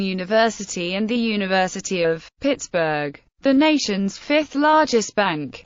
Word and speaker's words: Pittsburgh: As Forbes was a Scotsman, historians speculate that the pronunciation of the name was originally intended to be Ptsbury, Pittsbury or Pittsbury.